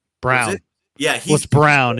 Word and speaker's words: Brown: name Brown yeah he's brown it looks like Braun but it's pronounced Brown he's good he's really